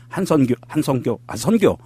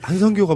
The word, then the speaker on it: 한선교: 발음 똑바로 안 하실래요? 자꾸 헷갈려요. 이게. 한성교가 뭐예요? 한성교. 선교래니까 그러게. 잘못 발음을 했어요.